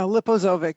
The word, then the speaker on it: Liposovic: say your name right yeah liposovic it's a lot easier to pronounce than it looks it's very intimidating when people see it but it's just what it looks like okay so thank you